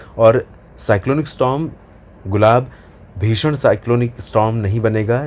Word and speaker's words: गुलाब: Cyclone गुलाब का नाम पाकिस्तान ने दिया है और इसका अगर जो प्रोनाउंसिएशन है उसकी बात करें तो इसका प्रोनाउंसिएशन कुछ इस तरह से है, गुल और आब।